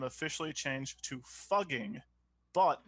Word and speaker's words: Fugging: name officially changed to Fugging, but pronounced the same as fucking, effective January 1st, 2021.